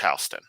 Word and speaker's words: Houston Street: It's pronounced Houston.